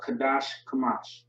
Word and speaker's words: Qadash Kamash: But Qadash Kamash is how you pronounce that or say it.